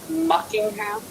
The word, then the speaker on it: Muckingham: Wait, the town is named Muckingham? Yeah, Yes. as in Buckingham Palace.